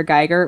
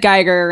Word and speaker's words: Giger: I mean I know everybody calls him Geer but you should probably know it's actually pronounced Giger and I was like